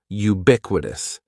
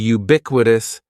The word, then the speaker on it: ubiquitous: The first word is ubiquitous. And ubiquitous has four syllables. That first syllable is just like you're saying the letter u. Ubiquitous. And the stress is going to be on that second syllable.